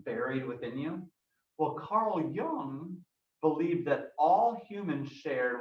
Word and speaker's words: Jung: pronounced the last name it's almost pronounced like the word young carl jung you can try saying